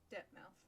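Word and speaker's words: Dirtmouth: of the opening cutscene depthmouth fading town disappointingly not pronounced like plymouth ho there traveler i'm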